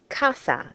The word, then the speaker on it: casa: So that's why we pronounce the word for house casa and not casa because it ends in a vowel.